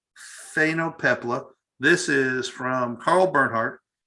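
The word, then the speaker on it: phainopepla: i've been practicing pronouncing it all day long it's spelled p h a n p-h-a-i-n-o-p-e-p-l-a phenopepla phenopepla this is from carl bernhardt he took it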